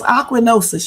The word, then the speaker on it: ochronosis: But it's ochronosis.